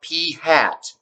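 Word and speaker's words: p̂: okay so population proportion p sample proportion is pronounced p hat i write that up here yeah called p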